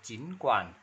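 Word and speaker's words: 尽管: chín quản, chín quản, đọc là chín quản, chín. Chín là thân ba nhưng mà quản là thân ba nên mình đọc là chín quản thân hai ba.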